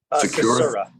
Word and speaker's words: Susura: So everybody, welcome Secura. Am I pronouncing your last name correctly? Susura. Susura, I'm sorry. Susura. Okay. Yep, Susura.